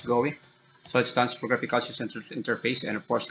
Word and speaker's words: GUI: We're talking about GUI, then it pronounced as GOEE.